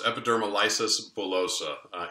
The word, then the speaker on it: epidermolysis bullosa: and the treatment of hopefully I'm pronouncing this correctly epidermolysis bilosub is that correct very close epidermal lysis bullosa or EB let's just